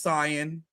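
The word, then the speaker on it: Saiyan: He says he looks just like that last san. That's the right way to say it.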